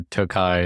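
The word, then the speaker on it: Tokaj: big wine wine store Tokai it's spelled to K AJ right Billy yeah yeah so it looks like toage so so you can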